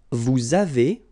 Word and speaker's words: vous avez: Vous avez. Same thing here. Little link between the two.